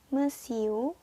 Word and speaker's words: monsieur: Ya, kita ulang lagi pengucapannya ya. Yang pertama, monsieur.